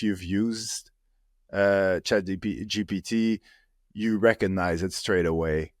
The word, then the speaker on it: GPT: come you love chat GTP so much GTP isn't it GPT no GTP CH GPT GPT G oh yeah you're right GPT see I've been saying it wrong all this time GPT um yeah so